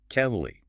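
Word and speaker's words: Keighley: How in the world does kei G hle y become the highly irregular pronunciation kelly? It sounds like keley.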